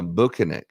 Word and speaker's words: Bukhenik: not it's uh bukinik and he's from Russia oh banic banic is the man's